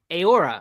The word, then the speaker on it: Heura: uh plant-based me company aora I think is the name of it in Spanish uh it's spelled like hura h-e-u-r-a uh they collaborated with